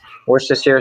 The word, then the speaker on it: Worcestershire: But yeah, you kind of get the how do you say it? Worcester sauce. Is that how you say it? Worcester. Yeah. Worcestershire sauce. Yeah, that's it.